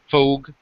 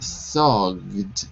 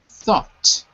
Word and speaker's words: thought: He asked me what I thought about the proposal. That's right. Careful with the pronunciation, though. GH is silent. So not thogged, but thought.